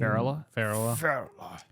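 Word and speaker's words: Férula: And then how are we pronouncing Glenn Close's character name? Farrella.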